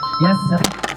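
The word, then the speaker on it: Yathrib: Yastrib. Yang lain? Benar. Hampir benar. Cuman cara bacanya meleset sedikit. Ya, Yastrib ya, dua suku bangsa yang tinggal di situ.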